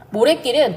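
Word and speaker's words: 모랫길: 모래길은요, 모래길이라고 적지만 발음 모래길 이렇게 발음이 나죠. 된소리로 바뀌는 경우입니다.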